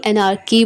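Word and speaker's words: anarchy: करने से इंकार और एनर की इसे ची नहीं एनर की प्रोनाउंस करेंगे और इसका मतलब होता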